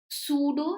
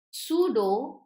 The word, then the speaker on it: pseudo: Pseudo scientific. This word, if you don't know, P is silent. Pseudo is that we think is present but it is not.